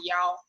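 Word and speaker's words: 一: And remember, if you're telling people 1, the number in your number, if there's 1 in your number, we don't say E anymore. Instead, we say Yao.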